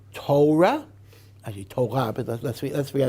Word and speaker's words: Torah: Do you say Taura, which is the German pronunciation? Do you say Torah, which is the Polish pronunciation? Do you say Teira, which is the Litvischer pronunciation?